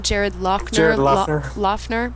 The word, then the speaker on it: Loughner: This Jared, how do you pronounce his last name? Jared Jared Lochner, Loughner. Lochner.